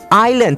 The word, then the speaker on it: island: a n d island เราไม่ออกเสียง s นะครับ i island s singapore l london a america n new zealand d donkey island ที่แปลว่าเกาะนะไม่ออกเสียง s นะ island